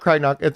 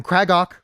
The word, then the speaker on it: Kragok: It's not Kragnock. There's no N in there. I am Kragok.